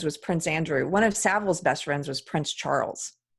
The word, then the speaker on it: Savile: talking about at the BBC it was Jimmy Savile and yep so one of EPs teens best friends was Prince Andrew one of Savile's best friends was Prince Charles yep anyway I